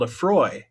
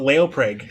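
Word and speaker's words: Laphroaig: It's called Lefroy, but the way that it's spelled out, it doesn't look like Lefroy. Yeah, I called it Leopreg.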